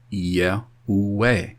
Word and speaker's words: Yahweh: This is why I, to this day, pronounce his name Yahweh, because it's made of those four glyphs, Y, E, U, E. And you don't get A out of E.